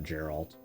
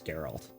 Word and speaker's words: Geralt: much everybody's favorite person for geralt or Gerald however you want to pronounce it it's on you to me it's geralt anyway and no one